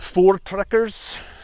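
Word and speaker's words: Voortrekkers: that being done um the four trekkers that's how you pronounce it they all banded together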